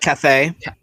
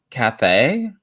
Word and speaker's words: Cathay: I don't know how to say this lady's name, but Cathay. Cathay. Yeah. It sounds like when you get drunk one day, you can't say Kathy, so you say Cathay.